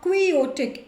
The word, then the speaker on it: quixotic: Now quixotic, x is silent, right. x is silent, आप कोई exotic नहीं बोलते हो.